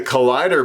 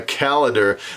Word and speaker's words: Calider: today I want to introduce you to the collider ball python or some people would pronounce it the calendar the collider actually consists of two genes the